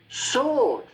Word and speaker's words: sword: Sword. Forget the W. Sword. If I said about it S-O-R-D, I'm sure you would say sword.